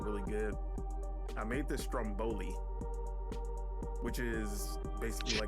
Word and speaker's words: stromboli: I made this stromboli, which is basically Stromboli? Stromboli. At least I feel like I was saying that shit wrong. No, you're saying it. It looks like you're saying it right.